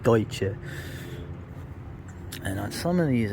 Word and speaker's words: Deutsch: The Pennsylvania Dutch, as they say, the mispronunciation of Deutsche.